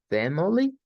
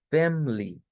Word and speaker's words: family: Eso significa que esta palabra se puede pronunciar con schwa como family o sin schwa simplemente diciendo family, family. Y las dos pronunciaciones son correctas.